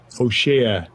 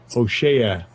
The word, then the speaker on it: Hoshea: Let me get the pronunciation of that properly. Strong's H 1954. Hoshea. Hoshea.